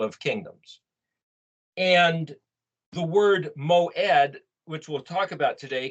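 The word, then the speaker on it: מועד: this is a keyword moed m-o-e-d is way it's pronounced but this would be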